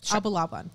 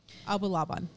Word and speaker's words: Abulaban: n n k i d I'll try to pronounce his his name correctly but it's his name ol and then AB Abu laaban abulaban okay a b u l a b a an abulaban we're just going to call him Olie for